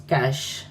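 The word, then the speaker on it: cache: Yes friends, कैश memory, it is pronounced as कैश।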